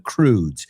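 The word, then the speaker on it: Croods: De hecho, a mi hija le encanta unos dibujos animados de unos cavernícolas que se llaman The Crudes. Se escribe C-R-O-O-D-S, pero viene de la palabra crude, right?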